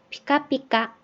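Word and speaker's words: ぴかぴか: 이렇게 다른 글자들도 마찬가지지만은 이 같은 글자라고 해도 첫 음절에 올 때는 이 알파벳 P에 가까운 P라는 발음이 되는데 뒤 중간이나 끝에 오면은 얘가 발음이 세져요. 그래서 쌍비읍처럼 발음이 돼요. 그래서 피카피카 이런 식으로요.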